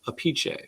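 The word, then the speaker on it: Appice: vinnie apec's brother but he pronounces his name different his father pronounces it apiche just so you know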